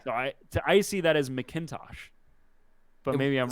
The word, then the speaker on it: McIntosh: You say Mick. You don't say Mac.